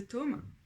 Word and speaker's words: tome: dans le 10 de tomes comme les différents tomes d'un livre. Tome. Il y a un M en français, ça se prononce tome.